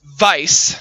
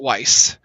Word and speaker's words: Weiss: but it's pronounced but it's also pronounced Vice not Weiss uh Ruby is red